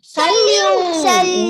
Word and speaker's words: salut: Ending letter T will be silent when you pronounce it.